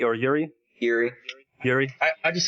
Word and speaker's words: Uri: Half of this is about, how do you pronounce it? Is it Uri or Yuri? Yuri.